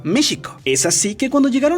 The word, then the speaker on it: México: pero en esa época la palabra méxico no se pronunciaba como si llevara jota sino más bien sh méxico es así que cuando